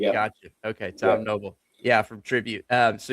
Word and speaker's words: Knoebel: It's pronounced Noble. This K is silent. Yeah, gotcha. Okay. Tom Noble.